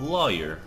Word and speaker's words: lawyer: How do you pronounce the first syllable of lawyer? Well, I say it with law.